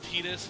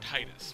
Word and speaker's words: Tidus: When I first played the game, I pronounced it Titus, but I'll stick with Tidus. It's more of a Japanese pronunciation of it, so let's go with it.